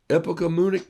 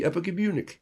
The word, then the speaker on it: epagomenic: I need next Tuesday off because it's a epigomenic day. Epagomenic, epigomenic day. And that M-E-N is pronounced M-U-H-N-I-C-K, epigomenic day.